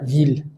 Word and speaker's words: ville: En algunos otros casos suena como una L, la palabra ville. Filla es hija, familia es familia, ville es ciudad.